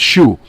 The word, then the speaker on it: SHU: security housing, I'm sorry, known by the inmates as SHUs, pronounced shoe.